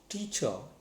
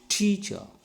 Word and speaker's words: teacher: c h er teacher two syllables are there t and char it is ending in r the letter r and it is a silent one so that's why stress should be on the first syllable so that's why i am applying the stress on first syllable and i am saying